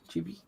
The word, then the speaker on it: chibi: Is that how you pronounce that? Chibi?